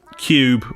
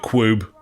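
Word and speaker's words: Q.U.B.E.: I have been playing cube or group while depending on how you want to pronounce q.u.b.e I'll go with cube group director's cut buddy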